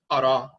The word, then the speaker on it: ara: Ra, that same term is pronounced ara in Akhan, meaning to grow abundantly,